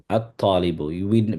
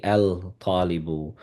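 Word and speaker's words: الطالب: The same word, the same thing applies with the ta. At-talibu. We don't say al-talibu. And we don't say al-rajulu.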